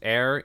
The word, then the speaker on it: ere: So we said the most common old Shakespeare word is ere, E-R-E, pronounced air, like the air you breathe, means before.